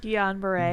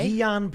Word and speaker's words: Guillain-Barré: How do you pronounce it? Guillain-Barré. Guillain-Barré.